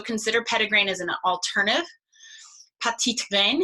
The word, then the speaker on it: petitgrain: Petitgrain, if you want to say it properly, for the French.